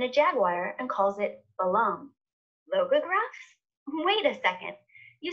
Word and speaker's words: Balam: that we're meant to read this glyph as Balama, minus the echo vowel, so Balam.